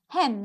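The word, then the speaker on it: hymn: ever heard of it notice that the n is silent hem just like saying the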